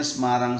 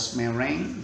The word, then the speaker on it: Semarang: Ini bacanya Semarang saja, nggak usah Semarang, nggak usah ya. Walaupun orang asing mungkin nyebutnya Semarang, seperti Cilacap kan bacanya sebagian mengatakan Cilacap.